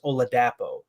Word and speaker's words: Oladapo: oladapo by the way the majority the announcers that I've heard say his name referred to him as oladapo so I'm wondering if